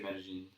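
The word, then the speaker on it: Medellín: Yeah, but no, some Spanish accents you go j. Yeah. For the double L. Other times it's just silent, right? Yeah, there they say Medellin.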